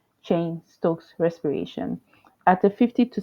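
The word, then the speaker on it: Cheyne-Stokes: and chain Stokes respirations hopefully I Pro I pronounce that correctly it is c h e y n e Stokes respiration chain Stokes respiration at a 50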